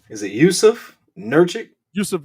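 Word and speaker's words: Nurkić: ready uh i want to make sure i pronounce his name right is it yusuf nurchick yusuf nurkic nurkic that's uh that's that's that's that's uh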